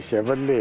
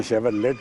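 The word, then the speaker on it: Chevrolet: ये 1930 की शेवरले है जी. नॉर्मली हिंदुस्तान में शेवरलेट बोलते हैं, बट वो गलत प्रोनाउंसिएशन है. करेक्ट नेम इसका है शेवरले.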